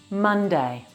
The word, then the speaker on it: Monday: Monday. This word has 2 parts, 2 syllables. Monday. Mun has 3 sounds. M, a, n. Not mon. M, a, n. The sound a is like in the word sun.